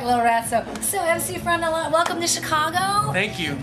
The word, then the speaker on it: MC Frontalot: It looks as though it says Mick Frontalot, but it's definitely MC.